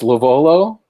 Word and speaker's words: LoVuolo: friend who will tell us how to pronounce his last name it's lovolo okay i had it right yeah uh and